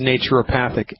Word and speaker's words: naturopathic: turn, you do not know even how to pronounce my profession's name. It's naturopathic.